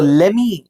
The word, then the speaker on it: let me: Let me check, let me check. ஸோ லெமி அப்படிங்கிறது எதோட contraction அப்படின்னு பார்த்தீங்கன்னா let me. ஸோ யூ can pronounce let me as லெமி.